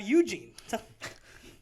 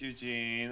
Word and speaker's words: Eugen: over here we have Eugene. Over here, we have Eugene. Eugene, talk to the microphone. Okay. Okay. Stop reading your stage I'm notes. sorry. Hi, everybody. My name's Eugene, or actually, it's pronounced Eugen.